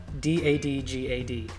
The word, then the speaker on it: DADGAD: to be tuned to d a d g a d dadgad just like it's spelled so this is what